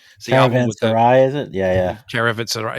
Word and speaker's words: Caravanserai: From their how do you pronounce the album? Caravanese album. It's the album with Caravanserai, is it? Yeah. Caravanserai.